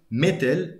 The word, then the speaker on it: مثل: By the way, originally it's like this تا is ثا, so مثل, right? Which is where we get words like مثال, like example, مثلا, for example. But again, in the dialect, we say مثلا or مثلا.